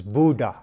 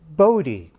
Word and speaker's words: Bode: netherlands he was dutch his mother preferred the dutch pronunciation which i've been told is buddha and but his colleagues